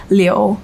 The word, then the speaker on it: Liu: And then my last name, the correct Chinese pronunciation is Liu.